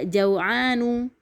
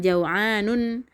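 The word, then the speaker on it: جوعان: Kemudian juga jau'anu, bukan jau'anun. Syaba'anu, bukan syaba'anun gitu.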